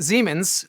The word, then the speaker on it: Siemens: german company actually pronounced Zeman's more like a Z in English and the Q is